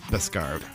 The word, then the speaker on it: Beskar: I had a 3 or 4 syllable. No, it's Beskar.